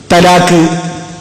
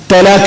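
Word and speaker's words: ത്വലാഖ്: പദങ്ങളുണ്ട് മറ്റുള്ളവർ പറയുന്നതുപോലെ നമ്മൾ പറയരുത് തലാക്ക് ത്വലാഖക് ചെയ്യലാക് ത്വലാഖ എന്നാ പറയുന്നത് അങ്ങനെ പറയുന്നുണ്ട് അതൊക്കെ നമ്മൾ അറബി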